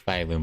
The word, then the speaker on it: Phylum: All right, so it is Phyloom, by the way. at least with these guys. I don't remember how they pronounced it in the special program two months ago, a month and a half, but like yeah, I don't know what did they call cuz everyone's been saying Baleium Heights.